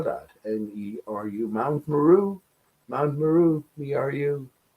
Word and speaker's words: Meru: And I say it like that, me are you. Spell that. N-E-R-U. Mount Meru.